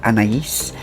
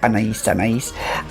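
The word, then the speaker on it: Anaïs: a classic classic timeless elegant fragrance and anagies anais is um how it's pronounced a lot of people will say m-a-n-a but it's anna's and it is beautiful i absolutely love this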